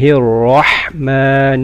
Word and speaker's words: الرحمن: بسم الله الرحمن الرحيم. The ra in Rahman is full mouth.